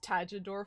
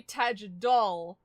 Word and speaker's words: Tajador: The biggest thing that hits me is Kamen Rider O's Tajidor form, where it should be Tajidol, and it is officially, but no one says Tajidol.